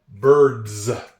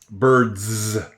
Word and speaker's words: birds: B I R D birds. We've talked about this. When there's a zz sound at the end of a word, birds, it's usually made with an S.